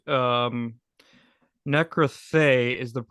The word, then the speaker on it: Nekroí Theoí: your you work with three bands 707 eyes necroy theory if I'm saying that right and skin stripper uh yes that's that's correct um necrathe is the correct pronunciation of that I know it's a it's